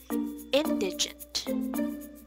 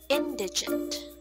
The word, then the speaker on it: indigent: should be pronounced as indigent again indigent hair so the stress is on the first syllable now let's try to